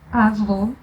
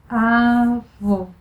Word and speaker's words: avô: To pronounce closed sound O, you can compare it to the O vowel in the word holy. Your lips are very rounded. O, avô, avô.